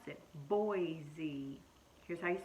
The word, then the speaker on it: Boise: you out here the capital of Idaho is Boise that's how you pronounce it Boise cuz I spell it capital bean oh I